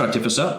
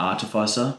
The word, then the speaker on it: artificer: a minute so the master artificer which is how I pronounce that not artificer arer yeah it sounds